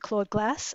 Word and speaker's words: Claude glass: Would you like to read Claude Glass or Cloud Glass? How do I pronounce that? Maybe tell us a little bit what that means. Sure. I always pronounce it Claude Glass.